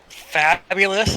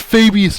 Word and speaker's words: Fabius: Fabulous is going to show those guys how it's done. It's pronounced Fabius, man.